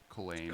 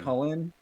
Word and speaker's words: Chulane: Is it pronounced Hullen? Did I hear that correct? Holland? Is that it? I know it doesn't. It have a pronunciation that is not Yeah, it's not Chu. It's not like Choo Choo. It is. Yeah. It is like Colin. Culane. Cullen.